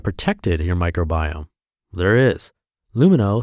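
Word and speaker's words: Lumineux: can harm it that's why their name is pronounced luma no because it has no harsh bleaches no artificial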